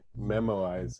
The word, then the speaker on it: memoize: i'm just gonna say memoize is not to be confused with the way toddlers pronounce memorize it almost is though because it's memorizing the results of the argument it's kind of the same thing but you know a lot of children don't pronounce their r's right so when they say memo memorize it comes out like memo wise never wise good job